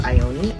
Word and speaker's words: Ioni: I believe that it's pronounced Ioni, I-O-N-I.